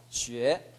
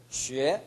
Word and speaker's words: 学: 지금 시 발음이 혀끝이 올라가 있어요. 시, 지치시 할 때는 혀끝이 아랫니 뒤에 붙어 있어야 됩니다. 그리고 혀를 전체적으로 살짝 밀어줍니다. 해보십시오. 시, 시, 쉐, 쉐. 그렇게 나야 됩니다.